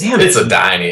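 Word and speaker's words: Adeiny: It's Adini.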